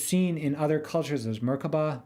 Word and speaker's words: merkabah: in other cultures as merkabah merkabah merkabah there are several pronunciations but generally you pronounce it as if the three syllables were separate with accent on each myrrh refers to a